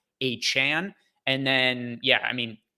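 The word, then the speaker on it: Achane: found out that he wants his name to pronounce a Chan and then yeah I mean Tyreek Hill had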